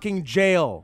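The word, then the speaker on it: Gaol: guile cave and yes nerds we know it's pronounced jail expanation that's it all right no it's pronounced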